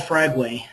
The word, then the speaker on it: Fragway: I have my name is Fragway. It's pronounced way we w a y on the end.